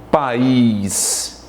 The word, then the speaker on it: país: Olha a palavra país. Eu tenho país. Há uma separação da letra A da letra I. Esses dois vocábulos, esses dois elementos vocálicos, eles se separam. Diferente de paz. Olha, paz é dito da mesma pronúncia, ou seja, está na mesma sílaba. Aqui eu tenho um ditongo, certo?